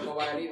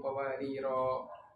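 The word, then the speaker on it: قوارير: Sehingga kita kalau waqaf pada qawarir yang kedua ini kita bacanya qawarir bukan qawariro. Begitu. Wa akwabin kanat qawarir. Jadi ro-nya itu dia tidak dipanjangkan. Itu menandakan dia tidak ada tanwin.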